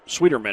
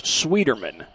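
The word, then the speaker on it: Schwieterman: shot taken by rena sweetmeyer excuse me sweetie sweeterman is the last name talking with coach comer about the pronunciation it's swederman spelled s-c-h-w-i-e-t-e-r-m-a-n that's the spelling on that last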